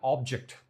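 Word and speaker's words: object: जब मैं बोलता हूं तो I have got एन ऑब्जेक्ट तो ऑब पे मैं जब स्ट्रेस दे रहा हूं तो ये वाली चीज है ये अंतर होता है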